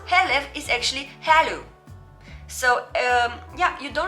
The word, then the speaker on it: Herlev: this one here and i used to say herlev because well it's so easy to think it you would just say herlev but then again if somebody calls me oh hey i have a package for you where should i deliver it and i say hello they normally would understand hello yeah this i know